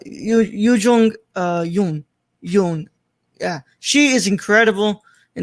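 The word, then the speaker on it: Yuh-jung Youn: Hold on, let me not mispronounce the last name. Yu Jung Yoon.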